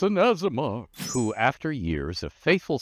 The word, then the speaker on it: Aasimar: And sure enough, you can pronounce it with a hard A sound. But in the realms, most people call it an Aasimar. It's an Aasimar who, after years of